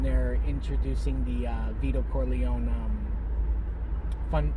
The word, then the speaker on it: Corleone: sounded like she says she says the last name wrong it sounds like she says cor leanne uh when they're introducing the uh vito corleone um not fundraiser uh